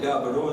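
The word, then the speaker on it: Gaborone: the counter i said could you tell me the proper pronunciation for this country of this town the city in botswana because at least i should know that and the lady there she said well we call it gabaro and they call it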